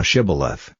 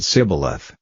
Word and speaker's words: Shibboleth: If he said, Nay, then said they unto him, Say now Shibboleth, and he said Sibboleth, for he could not frame to pronounce it right.